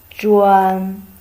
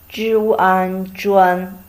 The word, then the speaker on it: 专: The pronunciation of this character is 专. 专.